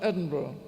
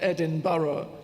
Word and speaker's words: Edinburgh: I'm from Edinburgh. That's how you pronounce it, by the way. Not Edin Burough, but Edinburgh. And they gave me a performance with the BBC Scottish.